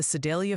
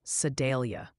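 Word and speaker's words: Sedalia: Also, the Sidelia fan club wanted me to tell you it's pronounced more like Sadelia.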